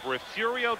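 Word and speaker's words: Refugio: safety woodamack out of refurio Texas probably one of the more mispronounced of Texas cities because of its failing r-e-f-u-g-i-o very high kid going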